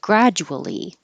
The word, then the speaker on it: gradually: Really, the DU makes a J.